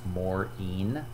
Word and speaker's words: Morean: is maureen yes my last name is pronounced morin i use he him